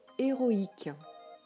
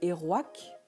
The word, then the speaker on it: héroïque: se prononcerait nef alors que ici on le prononce n'a ivw pareil pour héroïque qui deviendrait héroîque s'il n'y avait pas le tréma vous avez